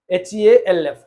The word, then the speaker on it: half: so L silent behof h a LF half but not half this is half one half so L is silent in the same way